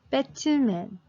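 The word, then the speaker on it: 배트맨: three syllables right so we have to pronounce it like pick two men bet two men who's that Batman right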